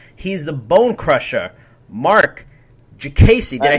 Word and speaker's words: Diakiese: He's the Bone Crusher, Marc Diakiese. Did I say it right? Diakiese. Diakiese, that's right.